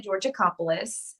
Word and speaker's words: Georgakopoulos: the listeners yeah so my name is georgiacopolis but georgia but since no one can ever say it or pronounce it spell it it's horrendous um i'm